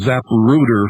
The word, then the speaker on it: Zapruder: and handling and uh the zap rooter film and i'm pronouncing it very carefully folks because we're getting orders